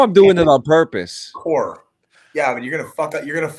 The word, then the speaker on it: Corps: That's how you pronounce it. It's core.